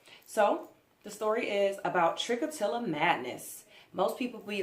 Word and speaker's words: Trichotillomania: It's pronounced Trichotillomania, as you can see here. Trichotillomania.